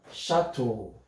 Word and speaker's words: chateau: a transformation let's see chateau our e e u changes into o sound the long letter o the long vowel o o as in ocean so we have the